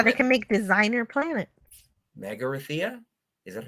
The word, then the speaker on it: Magrathea: Megarithia? Is that how you say it? Megarithia? Yeah, Magrathea is the place that creates planets.